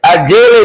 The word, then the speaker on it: Adele: Some people say Adele. We different. Adele, that's the right pronunciation.